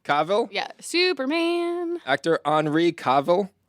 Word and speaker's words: Cavill: Cavo. Cavill.